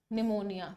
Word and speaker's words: pneumonia: निमोनिया, निमोनिया पी से शुरू होता है, पी इज साइलेंट, और PNEU pneumonia, तो A is right.